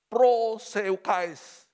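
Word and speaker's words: προσευχή: Gereja yang proseukais. Bahasa Yunaninya bacanya begitu.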